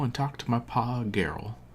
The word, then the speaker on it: Geralt: All I ask is that you go and talk to my pa, Geralt. Geralt? Team Hard G.